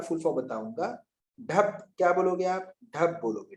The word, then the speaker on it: DHAP: ढप, क्या बोलोगे आप?